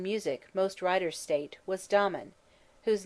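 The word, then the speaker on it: Damon: His teacher in music, most writers state, was Dmen, whose name they say should be pronounced with the first syllable short.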